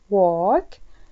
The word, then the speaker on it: walk: walk، ألاحظ كلمة walk عندنا هنا حرف ال لا ينطق، دائما الحرف اللي لا ينطق حطوا عليه سكون عشان تتذكرون.